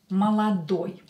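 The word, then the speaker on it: молодой: last and the last adjective is maladui Mala DOI oi ending is when o is stressed is Young masculine oil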